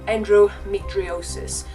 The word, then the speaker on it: endometriosis: you cannot read it, if you cannot pronounce it, it is said as endometriosis.